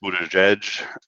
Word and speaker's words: Buttigieg: Buttigieg is, it turns out, pronounced Buttigieg.